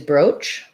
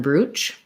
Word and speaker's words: brooch: um she's wondering whether i use oh um u or o on the words um broach okay boutique okay so um i think i use broach rather than brooch um but i do